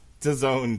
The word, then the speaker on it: DAZN: DAZN, Jesse. What does it rhyme with? Calzone.